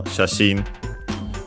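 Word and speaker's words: 写真: which is the usual shashin, the usual Chinese compound, which means photo, photograph, picture. Unaccented because it's a Chinese compound of two kanji.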